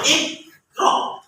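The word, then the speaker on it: اقرأ: Jangan iqra. Ya. Jangan iqra. Jadi salah. Kenapa? Kurang tepat. Kenapa? Karena ada huruf qalqalah. Ya. Huruf qalqalah harus dipantulkan. Jadi cara membacanya iqra.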